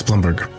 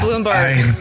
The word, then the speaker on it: Blumberg: Alex Blumbberg. It's good to talk to you, buddy. You said Bloomberg. Yes, I said Bloomberg. Well, I'm pronouncing it in the old country dialect.